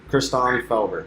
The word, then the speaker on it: Christaan Felber: How do you pronounce it? Christaan Felber.